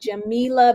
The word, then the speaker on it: Jamilah: her hi oh hello and my name is pronounced jamila okay but jamila okay great so nice to meet you sorry